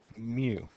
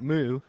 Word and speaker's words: mu: coefficient of friction and we pronounce it mu not moo mu all right and